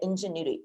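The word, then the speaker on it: Edgenuity: just railing on um it's called edge annuity that you call it you say it ingenuity ingenuity but it's spelled e-d-g-e-n-u-i-t-y but anyway so it's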